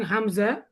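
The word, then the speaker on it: همزة: আমাদের আলিফ এবং হামজা এই দুইটা করতে হবে তাড়াতাড়ি উচ্চারণ, মনে রাখতে হবে কিন্তু। এই আলিফ আর এই হামজা, এই দুইটা তাড়াতাড়ি উচ্চারণ, আর বাকি সব ধীরে ধীরে টেনে টেনে উচ্চারণ করতে হবে।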